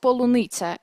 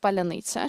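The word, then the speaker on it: паляниця: It was a Russian propaganda TV program, and the anchor Skabeeva said polunitsa instead of palyanytsia. She mispronounced that word.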